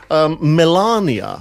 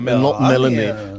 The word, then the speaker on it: Melania: news this week is Melania I've been told to pronounce not Milania Milania bride and her son